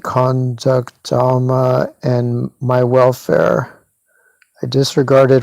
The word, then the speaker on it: Dhamma: I'm saying Dhamma, because they don't put an R in it in the spelling. Honestly, like the way actual Buddhists say it sounds like drama, but whatever.